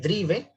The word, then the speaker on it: Drive: Es este, el Drive, pero se pronuncia Drive, ¿sí?